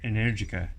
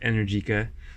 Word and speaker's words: Energica: And it's pronounced Energica. Energica, not Energica. Say it right.